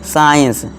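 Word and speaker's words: science: के बाद सी है, तो क्या होगा, हमारा सी जो है साइलेंट हो जाएगा। एग्जांपल देखिए, साइंस, डिसेंड, सीजर्स, फैसिनेट, इसी तरह डिसिपल।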